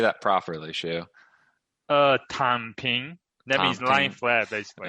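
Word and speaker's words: 躺平: Tan Ping.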